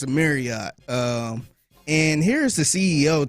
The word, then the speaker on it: Marriott: It's the same way with Marriott. It is not Elellott. Marriott. It is Elliot. Marriott. And so the correct way to say it is actually Marriott.